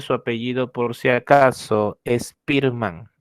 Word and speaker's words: Spearman: la teoría be factorial de spearman así se pronuncia su apellido por si acaso spearman spearman charles spearman propuso que la inteligencia se compone